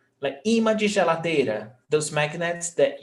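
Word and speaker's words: ímã: like a magnet, like imã de geladeira, those magnets that you put on the fridge. Imã de geladeira. No, so imã. Paroxítona, 2 syllables. Imã. Paroxítona terminada em acento.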